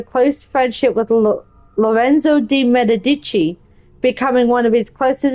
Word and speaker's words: Medici: Medici.